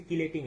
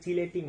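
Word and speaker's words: chelating: আর ধাতব আয়নের এটাকে নষ্ট করার জন্য আমরা ব্যবহার করব হচ্ছে কিলেটিং এজেন্ট, ঠিক আছে? কিলেটিং এজেন্ট, বা অনেক সময় এটাকে উচ্চারণ করা হয় চিলেটিং এজেন্ট, কেমন?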